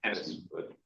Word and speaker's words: Enis Afgan: We have Anas Afghan. Am I pronouncing your name correctly? I should have asked before. I'm sorry. Yes, Anas Afghan.